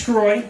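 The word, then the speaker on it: Sgroi: right yeah so uh my last name is scroy it's a felet last name and uh it's spelled SG oi very easy but I find when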